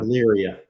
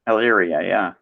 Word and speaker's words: Elyria: Elyria. Yep. Elyria, yeah.